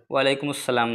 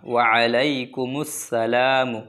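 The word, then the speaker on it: وعليكم السلام: ওয়ালাই আইন উচ্চার করবেন ওয়ালাইকুম আসসালাম না ওয়ালাইকুম আসসালাম না মানুষ এক ধরনের এক ধরনের দোয়াটি বলে থাকে কিন্তু না শুদ্ধ করে বলবেন দেখেন আলাই ঠিক আছে ওয়া আলাইকুমুস সালাম ওয়া আলাইকুমুস সালামু ওয়ারাহমাতুল্লাহি ওয়াবারাকাতুহু ওয়া বারবার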